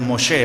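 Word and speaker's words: משה: bueno, la interpretación es Moshe, ¿verdad? O la pronunciación, mejor dicho, Moshe, hermanos del hebreo, Moshe, y entonces que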